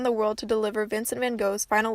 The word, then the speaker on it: van Gogh: personally knew him and yes I do say van Gogh because I'm American and we don't pronounce it properly out of all the